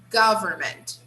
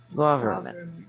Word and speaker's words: government: Government. Government. Government. Government. Yeah, the stress is on the first syllable.